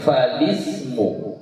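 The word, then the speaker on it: فالاسم: Jadi kita membacanya bukan fal tapi fali, ya, falismu gitu.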